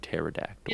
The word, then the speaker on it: pterodactyl: Who was the dumbass that put a P in front of pterodactyl? Yeah, who's out here putting P's in front of words that don't make noise?